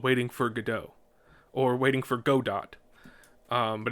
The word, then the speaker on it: Godot: And as he's going through the resume, he sees this one play called Waiting for Godot, or Waiting for Godot. But it's pronounced Godot.